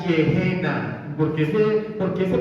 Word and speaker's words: Gehenna: de una palabra griega, Gehenna, con G de gato. Se pronunciaría literalmente Gehenna. Pero en español, en nuestro español motilón, ureñense, pero la palabra se pronuncia Gehenna.